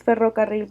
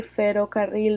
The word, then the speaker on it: ferrocarril: Um, if you say, for example, if a foreigner don't say it, the proper way to say is ferrocarril, but if they say ferrocarril, then you will understand that first off, is not getting a good understanding of the language.